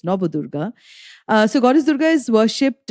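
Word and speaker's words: Navadurga: We have the Nabadurga, the 9 forms of goddess Durga, also called Nabadurga, but as a Bengali, I pronounce it as Nabadurga.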